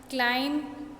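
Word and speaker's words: climb: क्लाइम, इट इज B is silent.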